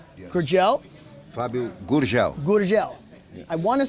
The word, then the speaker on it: Gurgel: Gur. Like gur. Gur. Gur. Gurgel.